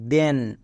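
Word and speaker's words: then: এখানে দো হয়েছে কেন এর ক্ষেত্রে নিয়ম হচ্ছে টি এইচ এর ঠিক পরে ই আছে তাই দো হচ্ছে যেমন টি এইচ এর জন্য দো ই এন এর জন্য এন কি হলো দেন একই রকম ভাবে টি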